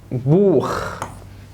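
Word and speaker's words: Buch: سي اتش سبق حرف الاي والاو واليو تنطق خ، بالانجليزي هو بقى اي واو يو خ. زي كلمه بوخ، زي كلمه ناخ، زي كلمه جدع وبرافو عليك والله اخت اخت اخت.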